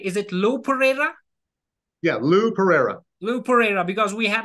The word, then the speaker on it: Lou Pereyra: pronouncing your name right. Is it Lou Pereyra? Yeah, Lou Pereyra.